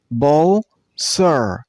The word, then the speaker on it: vulture: This bird name has two syllables. Vulture. And while you pronounce the word, stress on the first syllable. I mean on bull. Vulture. The P becomes B sound, so it's bull.